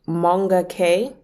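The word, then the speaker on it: Moonga K: There's an artist called Monga K, but it's spelled Moonga and then K full stop.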